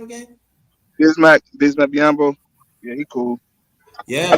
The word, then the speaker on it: Bismack Biyombo: How you pronounce his name again? Bismack Biyombo.